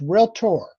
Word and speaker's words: realtor: You even pronounced the word realtor wrong. Did you notice I stopped you with that? Yes, I did. It's realtor. Okay. Not realtor.